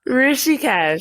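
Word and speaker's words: Rishikesh: Is it ricocheted? I don't even know how to pronounce it. Rishih. Yep. Yep. Rishies, India.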